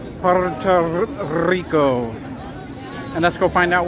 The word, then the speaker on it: Puerto Rico: If you can roll your Rs, Puerto Rico.